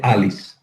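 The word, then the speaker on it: Allis: Se escribe con 2 L's, pero se dice Alice.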